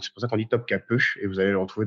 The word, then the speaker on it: Topkapı: point, mais en fait en turc ça s'écrit sans point sur le i et le i sans point se prononce e. Donc c'est pour ça qu'on dit Topkapı et vous allez le retrouver dans plusieurs noms de villes notamment.